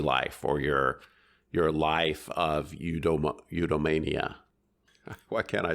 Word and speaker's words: eudaimonia: up your happy life or your life of eudaimonia.